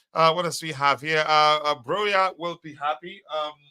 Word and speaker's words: Broja: Broya will be happy. Broja, yes, let me pronounce that correctly.